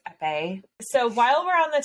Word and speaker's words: épée: And I also recognize the proper way to say that is épée.